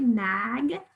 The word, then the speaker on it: magnet: We don't say magnet, but we hear a short A sound in the first syllable very clearly, magnet. And so of course, our second syllable is where we're gonna find our schwa and we're gonna spell it with an E.